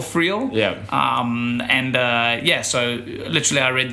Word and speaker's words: Friel: Joel Philio. Oh, sorry. Joel Philio. No, it's close. It's close. Sorry. It's close. Your pronunciation. No, it's Joel Friel.